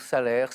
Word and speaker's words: Salers: ouais exactement voilà voilà alors on peut dire salaire salaire voilà le S se prononce se prononce pas salaire pour les puristes peu importe salaire vous